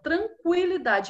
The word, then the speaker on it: tranquilidade: Quando eu visse esse sinalzinho de trema em cima do U, eu já sabia que para ler aquela palavra eu tinha que pronunciar o U dela. Tranquilidade.